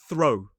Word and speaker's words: throw: but the pronunciation is throw. It rhymes with though, but for this word, we have the voiceless th and r o.